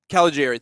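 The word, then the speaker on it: Caligiuri: Paul Caligari, I think. I don't know. Caligari, thank you very much.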